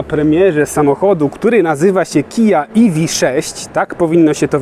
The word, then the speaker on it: Kia: okazję być na premierze samochodu który nazywa się kija ev6 tak powinno się to wymawiać chociaż mam wrażenie że wszyscy będą mówić